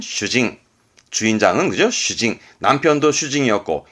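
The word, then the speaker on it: 主人: 예, 대표적으로 주인의 발음은 슈징.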